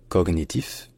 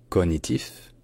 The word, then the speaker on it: cognitif: bonjour à tous donc ce mot français il a trois prononciations différentes qui sont toutes les trois plus ou moins courantes plus ou moins acceptable mais finalement il a qu'une seule qui est vraiment exactement fidèle à l'origine latine donc on peut dire cognitif cognitif ou même cognitif à l'origine en latin